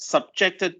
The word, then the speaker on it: subjected: in engineering uh subject subjected to this is uh subjected to that the accent is on the second syllable uh means uh this